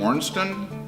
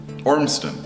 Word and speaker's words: Ormston: It's like 2 syllables, no Z's in it. And I have such a hard time. Okay. Ormston.